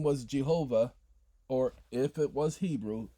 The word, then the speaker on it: Jehovah: have for Hebrews Yahweh the closest to the pronunciation for English we have is G Hova not ja but Jehovah what the G sound y g man because